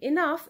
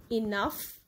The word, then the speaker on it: enough: Like in enough, it is in the end of the word and it is pronounced as F, right?